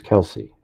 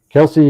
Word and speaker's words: Kelsi: What do you mean, who's Kelsey? And by the way, it's K-E, her name is spelled Kelsi, not S-E-Y. Kelsey is the older sister of Libby.